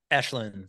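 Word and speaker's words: Aisling: I believe is her name and hopefully I pronounced that correctly ashin frosi is is that you say okay ashleen yeah I I think she was good I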